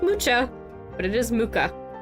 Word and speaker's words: Mucha: Muka and yeah it is pronounced Muka it looks like mucha but I assure you it's pronounced mooka non-english name do not